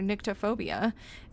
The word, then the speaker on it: nyctophobia: Or is it nycto? Sorry, I guess I don't know how to pronounce that correctly. How to pronounce nyctophobia. No, I was right. Nyctophobia. I was right first. Or at least according to a quick Google search.